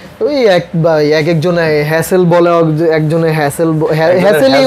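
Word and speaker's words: Hassel: হ্যাসেল বলে একজন হ্যাসেল হ্যাসেলই উচ্চারণই হবে হ্যাজেল হবে একজনের হ্যাজেল একজনের হ্যাসেল হ্যাঁ হ্যাঁ হ্যাসেলই হবে কারণ হচ্ছে ডাবল এস এল আছে সো এখানে হ্যাসেল উচ্চারণ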